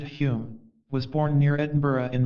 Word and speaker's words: Daniel Dunglas Home: sensation of being hypnotized Daniel dunglas home he pronounced it Hume was born near Edinburgh